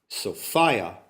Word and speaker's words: Sophia: It's worth noting that The pronunciation of the name of the planetary animal mother is Sophia, rhymes with desire. It also rhymes with defiance.